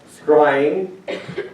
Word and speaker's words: scrying: Another practice during Samhain involved divination, attempting to predict the future using methods like scrying, which is spelled S-C-R-Y-I-N-G.